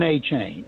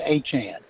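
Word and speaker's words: Achane: back at Texas A&M was Devon aain and now he's Devon Anan and he changed the pronunciation and he is incredible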